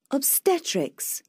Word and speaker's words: Obstetrics: Obstetrics. Obstetrics. Obstetrics. Ở đây mình có 3 âm và nhấn vào âm thứ hai.